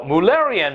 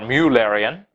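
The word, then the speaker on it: Müllerian: is batesian mimicry well mullerian mimicry is or mule Arian depending on how you prefer to pronounce it is when two harmful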